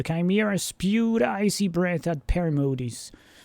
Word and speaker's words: Perimodes: Chimera, Perimodes, Uri, and Gillimer spent the night rounding up the unfortunate Wolven Chimera until only one remained. Perimodes... you probably pronounce that Perimodus, actually.